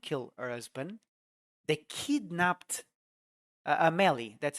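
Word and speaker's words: Amélie: since they couldn't kill her husband they kidnapped a Melly that's how you say it Tamil it's so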